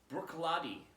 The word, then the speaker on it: Bruichladdich: on the internet and apparently you pronounce this as brooklady and this is the